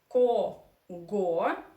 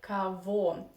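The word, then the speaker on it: кого: two things to discuss here because we have ko go written but we somehow say first of all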